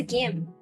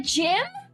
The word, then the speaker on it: gym: And he was like, "The gym? What is the gym?" And I was like, "Is that not how you say it?